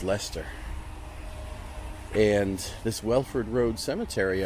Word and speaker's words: Leicester: Cemetery in leester England looks like liester but pronounced Lester and this wford road